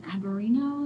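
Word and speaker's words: Albariño: And she grows in Averino. Is that how I'm saying it right? Yeah.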